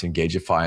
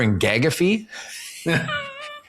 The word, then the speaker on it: Engageify: get a delivery or someone has to pronounce Engageify and they're like, I got a delivery for engag.